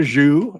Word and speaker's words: Xu: the parallel now here's another zuu it but it's spelled XU and from a different